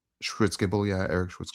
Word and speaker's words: Schwitzgebel: is I I don't know if I can pronounce his his last name properly, but it's like Eric Eric Schwitzgebel. Schwitzgebel, yeah. Eric Schwitzgebel. Schwitzgebel.